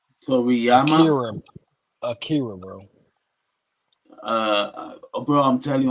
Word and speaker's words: Akira: He said, "What are your thoughts on the death of Ariki Toriyama?" Akira, bro. Bro, I'm telling you on my screen, I'm seeing shit about Ariki. It's Akira. It's Japanese.